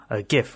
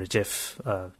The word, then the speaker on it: GIF: a JPEG or PNG gif or Jif depending on how you want to pronounce that there are a bunch